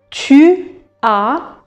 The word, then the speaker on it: tu as: Maintenant le verbe avoir j'ai pour pour je enlève le e apastrophe et j'ai tu as n'oubliez pas tu as un s qui ne se prononce pas.